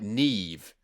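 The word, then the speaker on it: Niamh: one of those like the way they spell like um like neve the the name neve is spelled n-i-a-m-h and uh don't don't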